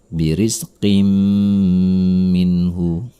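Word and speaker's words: بِرِزْقٍ مِّنْهُ: Ada tanwin bertemu dengan huruf mim bertasydid. Maka ini adalah idgham bi gunnah. Tanwin tersebut harus melebur kepada huruf sesudahnya. Birizqim minhu.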